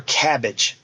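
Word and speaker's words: Kabbage: companies like PayPal or cabbage they spent the K by the way I had double check that cabbage is spelled with a k a company called prosper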